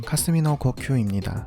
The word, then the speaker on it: 霞の呼吸: 존재하던 호흡법이었던 것 같습니다 안개 후배 일본어 발음은 카스미노 코큐입니다 여기서 카스미는 노을 하라는